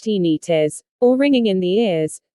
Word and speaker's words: tinnitus: heart palpitations lethargy tinnitus tinnitus pronounced teeny tis or ringing in the